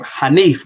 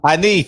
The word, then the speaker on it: Hanif: Film says Hannah rhymes with plaintiff. Yeah, my name Hanif though. Hanif.